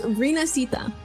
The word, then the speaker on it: Rinascita: It's Rinascita. So he did say it right. Yeah, I was like, I know it's like Rinascita, but I'm like, I